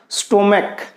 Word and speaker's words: stomach: जैसे स्टोमक, STOMACH है, इसका उच्चारण क्या हुआ है, यहां पे क हुआ है, स्टोमक।